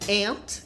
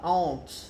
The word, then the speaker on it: aunt: Formiga e tia em inglês se pronunciam da mesma forma, né? Não parece, mas... Eu lembro no início, quando eu estava estudando, eu falava aunt. Não é aunt. É aunt. Tá?